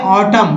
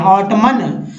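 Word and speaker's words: autumn: जैसे हम लोग जानते हैं ऑटम, ऑटम पढ़ते हैं, ऑटमन, अभी तक बहुत सारे लोग जो ऑटमन पढ़ते हैं, मन, इसे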